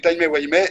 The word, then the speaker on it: Timey-Wimey: créateur des BD, MLP Timey-Wimey et Artblock que nous publions aussi sur LPB de manière très régulière, une fois par semaine. Alors Lohan, je te reprends juste un peu sur ta prononciation, c'est timey-wimey.